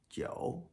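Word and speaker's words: 九: And to the right, Joe. Joe. Or the number nine. The phonetic component. Joe rhymes with Cho.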